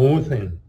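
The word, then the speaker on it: οὐδέν: La palabra griega helenística del griego oine uden o uden que es su pronunciación correcta.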